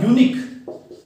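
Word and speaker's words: unique: ए रहा है इसमें लेकिन इसका प्रोनाउंस करेंगे तो क्या होगा यूनिक क्या होगा यूनिक यूनिकॉर्न तो ये की साउंड ए रही है किसके साउंड ए रही है ये की तो ये की साउंड आती है अपन ने क्या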